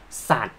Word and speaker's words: สัตว์: a ย ยักษ์ ส Animals and SAT honesty Well They Have the Same pronunciation but Are written differently OK and the Language